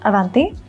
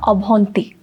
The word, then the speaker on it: Avanti: For example, my name is Avanti, but in Odia, I would say, instead of saying my name is Avanti or Mera naam Avanti, which is what it would be in Hindi, in Odia it's Mo na Abhanti, or Abhanti. So like my name also